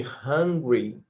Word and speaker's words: hungry: que cuidar com a pronúncia de Ingrid e Hungry Hungry tem o h na frente o una dá Muita confusão desse negócio aí uma